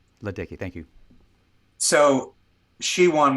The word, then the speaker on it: Ledecky: Is it Ledecky? You're well done. Katie Ledecky. Ledecky, thank you.